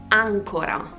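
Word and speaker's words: àncora: It is ancora, with the accent like this.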